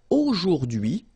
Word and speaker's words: aujourd'hui: H is not pronounced, so you only get this d'hui thing.